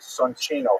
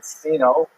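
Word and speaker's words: Soncino: Penters were this the Sonino family. I will probably pronounce it sino because you know I was born in North America but it is uh in situ it would be pronounced sonino.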